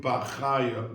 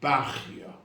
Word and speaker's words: Bachya: Now we know that the Rabbeinu Bachaya, in Yeshiva, we pronounced it Rabbeinu Bachaya. Many people pronounce his name Bachya.